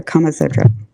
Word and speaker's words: Kama Sutra: Maybe I'm saying it's Kumasatra or Kamasutra.